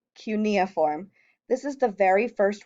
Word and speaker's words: cuneiform: the most important is called cuneiform and that is pronounced cuneiform this is the very